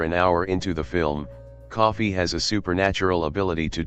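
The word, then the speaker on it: Coffey: Their latest arrival on the Green Mile is John Coffee, like the drink, only not spelled the same, a towering but outwardly gentle figure embodied by Michael Clark Duncan.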